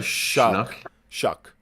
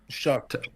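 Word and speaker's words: Shough: Shuck. Shuck.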